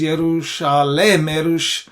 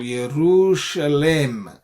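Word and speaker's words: יְרוּשָׁלֵם: Okay, now there is an alternative spelling, which is Yerushalem. This shwa is a vocal shwa because it's a long vowel. Yerushalem segol.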